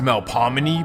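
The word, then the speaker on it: Melpomene: First, let me introduce you to the Malfamine project, also known as the MEL. Now, technically, it should be pronounced Mel Pominy, but it's New Orleans.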